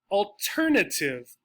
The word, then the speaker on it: alternative: Syllables that have sometimes 4 or 5 syllables, words that have sometimes 4 or 5 syllables, and end in this suffix, T-I-V-E, they get stressed on the second syllable.